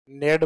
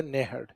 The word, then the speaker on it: नेहड़: हालांकि जालोर वाले इसको नेहड़ कम लिखते हैं या कम पढ़ते हैं, डायरेक्ट है को साइलेंट करते हुए डायरेक्ट क्या बोल देते हैं? नेड बोलते हैं। बाकी सही शब्द है नेहड़।